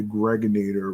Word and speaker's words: Gregonator: I'm your man, G Money Stacks, aka the Gregonator, rhymes with now later, and I'd like to say thank you to every single one of you out there, whatsoever.